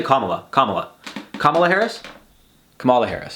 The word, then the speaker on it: Kamala: It's not Kamala. It's Kamala. Kamala? Kamala. People say Kamala.